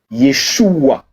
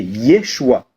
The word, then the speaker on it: Yeshua: Josué, ça veut dire, quand on le prononce dans la langue originelle du Mashiach, donc de Jésus, c'est Yeshua. Tu as vu? Écoute, Yeshua. Maintenant, lorsqu'on veut prononcer Jésus, c'est Yeshua.